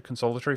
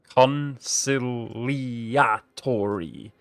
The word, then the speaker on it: conciliatory: Ben says, I love you, man, a long-time fan, but cannot sit idly while you butcher consolatory for your EU5 career. Conciliatory. Ben, so I am literally dyslexic, man.